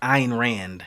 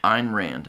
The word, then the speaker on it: Ayn Rand: on is that and I think it's pronounced ayan Rand Ayn Rand okay the smallest minority